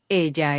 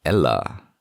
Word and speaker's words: ella: Ella es una mujer. Notice that it's not ella. It's ella. She is a woman. When you have two L's together, in Spanish, this is the phonetic pronunciation is ia.